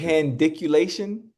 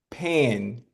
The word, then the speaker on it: pandiculation: Pendiculation? Yes. Pan. Okay. Pan, not pendiculation, pan.